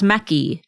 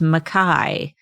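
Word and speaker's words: Mekhi: Ebook says Meki. Tracy Wolff says Mackay. Obviously, Tracy's is the correct way to say it.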